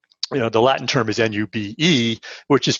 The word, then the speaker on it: nube: is the you know the latin term is n-u-b-e which is pronounced nube and so it's the phonetic spelling